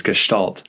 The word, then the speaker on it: Gestalt: centered therapy is about Gestalt or I think the correct pronunciation pronunciation is Gestalt therapy that overall is about